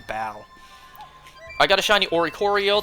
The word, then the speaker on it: Baile: it the Bailey style it's not Bailey I think it's pronounced Bal I got a shiny